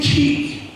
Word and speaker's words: quay: They did do some other excavations, small ones in different places, but this was the main one called Wood Quay. And you're asking me, why would you pronounce that?